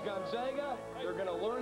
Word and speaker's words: Gonzaga: It's pronounced Gonzaga.